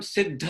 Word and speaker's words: सिद्ध: तो इस सिद्ध, तो सिद्ध ध, हमें ये ध्यान रखना है कि हम सिद्ध बोल रहे हैं। अब ये ध से ध जोड़ देना वो गलती है, सो वो गलत उच्चारण है, अशुद्ध उच्चारण।